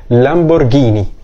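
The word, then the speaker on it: Lamborghini: ان النطق عربي كده حتى حرف الار فيها ما بيتنطقش ار بيتنطق زي حرف الراء لمبرجيني على الوحش اللي بعد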